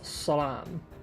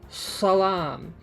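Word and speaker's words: سلام: Like no matter how many times I grab you by the lapels and say Salam, like I would have to like teach you step by step to pronounce a pharyngealized S, you know?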